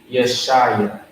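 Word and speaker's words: ישעיה: So Yeshaya. That's how you pronounce that.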